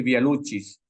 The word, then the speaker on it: Via Lucis: Este Via Lucis, en latín se pronuncia así Via Lucis o Via Lucis. Algunos podrían decir Via Lucis.